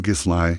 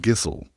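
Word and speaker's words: Gísli: Your whole legal case could fall apart because you called him Gisli instead of Gisel.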